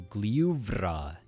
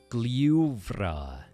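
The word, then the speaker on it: Gljúfrabúi: The important thing here is f is pronounced like a v, so it's very voiced. So, Glyuvrabúi. Pretty much all r's are rolled in Icelandic. So, we have Glyuvrabúi.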